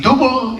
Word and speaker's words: duble: The currency is the duble. It rhymes with the ruble.